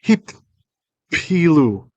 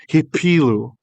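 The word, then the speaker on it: הִפִּילוּ: Hin pilu became hip pilu. There's two pays there, although we usually don't exaggerate that pronunciation. We just say hipilu.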